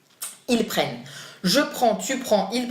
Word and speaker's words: prennent: As always, you do not pronounce the final ENT. Ils prennent.